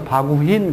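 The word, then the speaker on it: baguhin: 그래서 바구힌 그래요.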